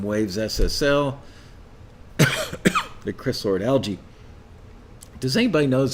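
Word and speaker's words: Alge: ssl the chris lord algae does anybody knows he pronounced his name algae like that green stuff that grows in the inside of your aquarium or is it alg battery for drums amazing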